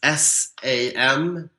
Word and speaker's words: Sam Englund: So my Twitter handle is SAMENGLUND. I think that's how you say it in English. Sam Englund. It's like England, but without the A and a U instead.